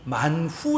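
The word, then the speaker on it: מן הוא: 여러분 맞나 라고 하는 말의 히브리 발음이 만 후 라고 하거든요 만 후 이게 이것이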